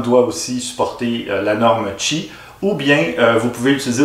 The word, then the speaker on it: Qi: charge par induction donc la norme çi qui s'écrit qi mais qui se prononce chi vous n'avez qu'à placer